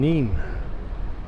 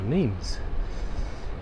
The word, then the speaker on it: Nîmes: We're in Nîmes, or Nîmes for the English pronunciation.